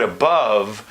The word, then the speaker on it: above: schwa sound so that the word above for most Americans it's going to feel like it's the same vowel in both syllables whereas it's commonly transcribed as above so that it's a schwa for the first syllable and the turned V for the second syllable but the reality is